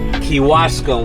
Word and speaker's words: Kewaskum: We are currently in how you pronounce the name of this town, man? Kewaskum.